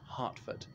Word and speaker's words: Hertford: general John Burgoyne's house it's spelt Hertford Street but pronounced Hartford so as you can